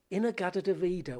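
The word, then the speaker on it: In-A-Gadda-Da-Vida: This is Inagada de Vida, which is in the Garden of Eden, but it's their own pronunciation of it.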